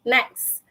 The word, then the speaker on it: next: It's more, mostly people akan cakap next, N-E-X, next. Kan? Next. Panggil orang yang seterusnya kan. But then the correct pronunciation, next.